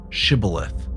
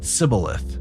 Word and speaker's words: Shibboleth: When he said no, they said, "Then say Shibboleth." And he said Sibboleth, for he could not pronounce it right.